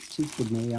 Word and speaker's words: Skmei: That's the way you pronounce it. So you don't think I just came up with Skmei on my own, do you?